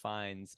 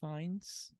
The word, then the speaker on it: Fiennes: Starring Ralph Fiennes as the rat catcher. It's so depraved. Oh, It's fun fact. disgusting. What? It's actually pronounced Rafe. Really? Yeah. Rafe Fiennes?